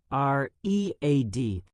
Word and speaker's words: read: R E A D. But when we speak it in the past tense, we pronounce it like the color red.